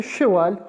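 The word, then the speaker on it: cheval: शा लु शा ये फिफ्थ वन है लु शवाल लु शवाल लु शवाल शवाल का मतलब है जी हॉर्स ये एक नया वर्ड है पिछले लेक्चर में नहीं था तो ये सीखे शवाल हॉर्स घोड़ा हॉर्स घोड़े को शवाल कहते हैं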